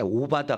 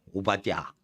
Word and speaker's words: 오바디야: 같은 사람이 온다 이거요 오바디야 말도 힘들어 그래서 이제 쉽게 얘기할 때 오바다 이래 버리는데 오바다 아니에요 오바디야 근데 이것도 원래 히브리어 발음은 더 어려워음 하여튼 오바디 하여튼 오하고